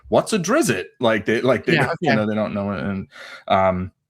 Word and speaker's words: Drizzt: So Drizzt Do'Urden, there's a T at the end.